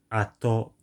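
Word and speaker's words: 後: I know it's Go when used as part of compounds, and because compounds tend to use the Chinese dialect pronunciation. Okay, so when not used as part of a compound with other kanji in the same word, it's apparently called ato.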